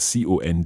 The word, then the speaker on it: conduisent: and ils conduisent. Ils conduisent. So that's ending in, well, the whole verb is spelled C-O-N-D-U-I-S-E-N-T, and that's your silent E-N-T ending.